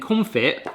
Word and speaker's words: confit: This is where we confit biyaldi, and confit is actually pronounced confit, which basically means to preserve.